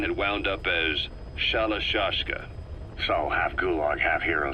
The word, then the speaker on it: Shalashaska: the time I got to hearing about it pronunciation had wound up as shalashaska so half gulg half hero sword is a